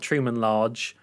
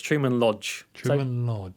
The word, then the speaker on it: Truman Lodge: got his name wrong it's not Truman large it's Truman Lodge Lodge Truman Lodge will